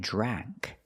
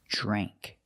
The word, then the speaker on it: drank: Remember, use the long a sound. It's not drank. It's not a like apple. It's a dre drank.